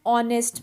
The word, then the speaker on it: honest: orange, an umbrella, an honest man, an hour. Now notice the word hour and honest. So in both these words, H is silent.